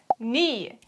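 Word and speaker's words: nie: a very short one very handy it is knee the correct sentence is ich haberdas ni exact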